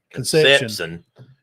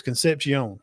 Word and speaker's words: Concepcion: It's not Conception. It's Concepcion. Concepcion.